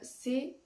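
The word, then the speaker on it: sept: se prononce pas et dans le cas du 7 on écrit un P entre le E et le T mais on ne le prononce pas on dit c'est tout cela sont des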